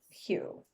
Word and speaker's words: Hew: Gustal Mindless Hugh. Mindless is spelled Meinlys. Hugh is spelled like to hew something Hew.